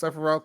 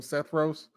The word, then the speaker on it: Sephiroth: Steven is definitely the type of person who hears that Sephiroth is pronounced Sephiroth, but still calls him Sethros.